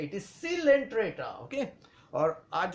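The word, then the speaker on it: Coelenterata: है Porifera Porifera okay दूसरा है सीलेंट्रेटा बहुत सारे स्टूडेंट्स को कोंटा कहते हैं कोइल एंटा कह देते हैं तो क स्पेशली द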